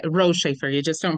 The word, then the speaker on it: Rotschafer: saying your last name correctly um that's right R shaer you just don't pronounce the okay I I think I was